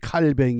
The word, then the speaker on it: 칼뱅: 15절 말씀을 종교 개혁자 칼빈 요즘은 또 한국에서 칼뱅 그래요 왜 그런가 하니 칼빈이 불란서 사람인데 불란서식 발음은 칼뱅 있니다 그 세한 교회